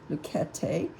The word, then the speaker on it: Schmincke: It's from Schmincke, is how they say to pronounce it in their paperwork, Schmincke.